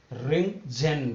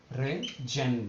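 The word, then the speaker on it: Röntgen: देखो discover by, देखो ध्यान रखना, डिस्कवर्ड बाय किसने किया था, रिंगजेन ने, ROEN, T साइलेंट रहता है, रिंगजेन ने, ठीक है, डिस्कवर बाय रिंगजेन, ठीक है।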